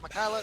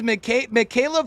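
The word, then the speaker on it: Mikaela: And it looks like he's after a Michaela. Does anybody know how to say this survivor's name? It is definitely, it is Michaela for some, and Michaela I have also heard from others.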